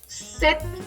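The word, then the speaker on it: sept: cinq six हम लोग French में पी प्रोनाउंस नहीं करते, तो दिस इज सेट।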